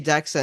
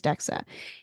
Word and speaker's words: DEXA: refer to as so you pronounce it as dexa and it's a scan